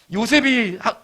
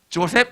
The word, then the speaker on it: 요셉: 요셉이 성경에 히브리어에 요셉이라고 읽는데 쟤는 뭐라고 읽어요? 영어 애들은 조셉이라고 읽습니다. 자부심을 가지세요. 그냥 요셉이라고 읽으세요. 영어 미국 사람 만나면 저 해보고 싶은 게 그냥 성경에 나온 이름 그대로 얘기해보고 싶어요. Do you know 요셉? What? 조셉? No, 요셉. 이렇게 요셉.